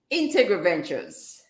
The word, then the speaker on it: Integriventures: You were Integriventures. yes, Ventures. 5 syllables. I know Integriventures. it's a mouthful. Yes, And Ventures. to think I practiced before I came. It's all right. So it's Integriventures.